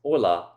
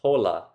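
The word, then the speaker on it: hola: Most of us know that this first word is pronounced "oh-la", not "ho-la", because h's in Spanish are silent.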